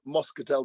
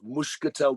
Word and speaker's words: Moscatel: So and we would think it was Moscatel, but O's are often pronounced as U's. So it's not Moscatel de Setúbal, it's Muscatel de Setúbal. And that's the right way to pronounce it.